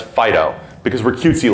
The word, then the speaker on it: FD.io: stands for fast data typically ftil will be pronounced as Fido because we're cutesy like